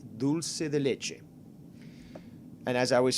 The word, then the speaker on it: dulce de leche: two totally different things if you pronounce it in spanish which is where it comes from it is that that part of the hispanic south american culture it's dulce de leche simple as that now